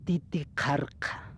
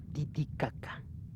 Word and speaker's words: Titicaca: El nombre original de la isla del sol es titicarka por no poder pronunciar como nosotros han dicho Titicaca.